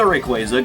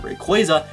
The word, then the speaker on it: Rayquaza: And yes, I now pronounce it Rayquaza instead of Rayquaza.